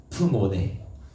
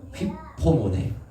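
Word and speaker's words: ὑπομονή: 그리고 참음이라는 단어가 아닌 헬라어로 휘프모네, 발음 어렵네요. 휘포모네 라는 뜻이 있는데 이 참음의 뜻이 뭐냐면 그 안에 머무르는 거예요.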